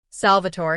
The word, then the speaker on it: Salvatore: "Salvatore." He pronounced it the Italian way, musical almost.